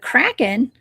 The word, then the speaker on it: Kraken: Now, the Kraken is a legendary cephalopod. That's how you pronounce that.